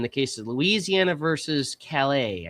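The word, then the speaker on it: Callais: Supreme Court on Wednesday in the case of Louisiana versus Calais, I think is how you pronounce that, like the town in France, struck down a Louisiana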